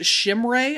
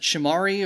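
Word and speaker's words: Chimere: Tennessee wide receiver I think is pronounced Shimray. I've always pronounced it Shimari or or Shamir.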